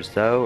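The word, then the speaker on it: Zhou: quing or Ching or is it pronounced Joe or zo or z i don't even as it said I left the game yeah it's ching and Jo hey if you put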